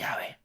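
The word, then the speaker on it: 야훼: 조합을 해서 아 아마도 여호와의 거야 뭐 영어에서는 제호와이 거야라고 말합니다 그런데 정작 유대인들이 그리고 유대인들 본인들의 보기에는이 이름의 가장 금적 발음은 다름 아니라 야외입니다 야외 왜 그럴까요 왜냐면 그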